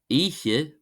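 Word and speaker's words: oíche: And the word Eiche, Eiche, Eiche, meaning night, is pronounced like the German pronoun Ich, Ich, Ich, Ich, Ich, Ich, meaning I.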